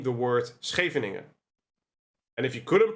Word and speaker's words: Scheveningen: It's the Scheveningen variation. Can you say Scheveningen? Scheveningen. Scheveningen? Okay. We call it Scheveningen.